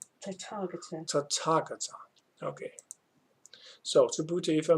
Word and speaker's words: Tathagata: Subhuti, if a man should declare that the Tathagata, let me just pronounce this right. Tathagata.